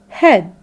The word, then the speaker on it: head: a question for you the ea letter pattern in the word weather makes it the sound e like in eat great head so head is a correct one head is a correct